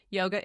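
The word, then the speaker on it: योग: It's just yog there's no a.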